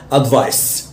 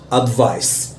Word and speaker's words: advice: فالكلمة تتنطق advice advice advice، اوكي اوكي.